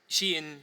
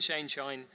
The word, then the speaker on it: Shein: final and very controversial example of that is Shein, Shein. Everyone pronounces it differently. And I've heard it every single way, so I'm still going to just say that every time I mention it. Shein, Shine, Shinny, whatever we want.